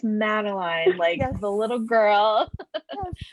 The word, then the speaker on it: Madeline: A lot of people would pronounce Madeline's name like Madeleine or something. And I'd be like, well, actually it's Madeline, Yes.